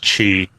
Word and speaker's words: Qi: Yeah, it's pronounced chi. Chi. Like the energy inside the body. Yeah, chi. Even though it's spelled QI.